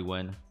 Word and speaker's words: Nguyen: You do pronounce it like win.